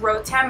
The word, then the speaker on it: Rotem: sure to use my coupon um it's just rotem my name which by the way if you don't know what to pronounce rotem and you just use it at